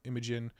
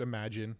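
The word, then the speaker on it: Imagen: you can use um imagin I know it's probably pronounced imagine I still call it imagin I have a hard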